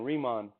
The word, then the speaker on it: Riemann: This guy is a German, just like Gauss, Bernard Riemann. Okay, that's how you pronounce it. That's the German spelling, Riemann. That's how you pronounce it.